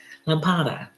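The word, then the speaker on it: lâmpada: um in Portuguese and it's uh oh goodness L Lambada Lambada Lambada you know like a lamp lampada is the word for light bulb and um so with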